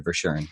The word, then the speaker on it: Verschuuren: far so thank you for joining me doctor for sharing am i pronouncing your name right by the way yes